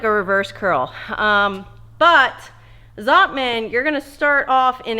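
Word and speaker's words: Zottman: gonna pronunciate this right zotman curls i always thought it was zotoman but there was no o and i thought it was z-o-t-t-o man but everywhere it says zotman z-o-t-t-m-a-n anyway it's basically like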